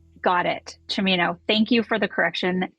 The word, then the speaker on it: Cimino: should note though that my last name is pronounced uh chamino like al pacino got it shimino thank you for the